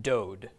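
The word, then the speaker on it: דוד: with cholam, dalit, okay, the dalit makes a D sound, the cholam makes a long O, the final dalit there, another D, so this is pronounced dode.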